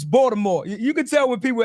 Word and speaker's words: Baltimore: wait wait say say say it right is it balore bore bore wire like Snoop in this mother I love it Jess hilaris it's Baltimore you could tell when